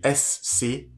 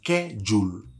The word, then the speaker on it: schedule: Le mot s'écrit S-C-H-E-D-U-L-E. Et il se prononce schedule.